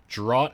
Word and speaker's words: draught: Draught is pronounced like draft, because English is a foolish language.